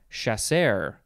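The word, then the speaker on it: chasseur: shaspo next we have chaser chasser chasser spelled c-h-a-s-s-e-u-r i would want to say sure but it says chaser all these french words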